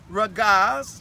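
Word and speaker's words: רגז: The first one is, I'll give you the English, ragaz, just so you can pronounce it, R-A-G-A-S. And depending on how it's being used, it could be also spelled R-E, oh no, R-O, sorry, R-O-G-E-S, but it's still ragaz, either way you pronounce it, ragaz.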